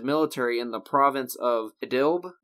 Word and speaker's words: Idlib: in the province of Idlib? Idlib, is how you say it? I think it's actually Idlib. It's a weird way to do that, but it's an Arabic, so yeah.